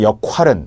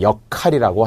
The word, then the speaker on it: 역할: 나오는 탤런트들이 나 영화배우들이 이번에 제가 많든 역활은 이렇게 발음하는 사람들이 있는데요 절대 안됩니다 이것은 한자 로 나눌